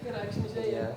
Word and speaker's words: Rijksmuseum: How do you pronounce it? Rijksmuseum.